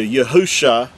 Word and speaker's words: Yahusha: the coming Mashiach, Messiah, is spelled with 5 letters, which translates into Yahusha, and that's the original text. Now again, with vowel points, it's going to say Yahushua, and that's because they vowel pointed and added an extra